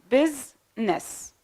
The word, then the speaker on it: business: now the word business the I isn't pronounced so we pronounce s then n business in most words also